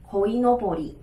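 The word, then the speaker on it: 鯉のぼり: 那鲤鱼旗的日文我们念作 koinobori, koinobori。OK, 那以前的话呢，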